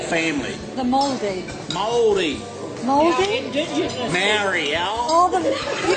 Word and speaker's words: Māori: Maori, Oh, you call them Māori? You gotta speak the lingo. Why do you call them Māori? Māori. Oh, the Māori. That's the correct pronunciation.